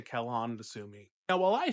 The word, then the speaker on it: Quellon: Some people say Quellon because it's spelled with a quu. I say Kellon to Sumi.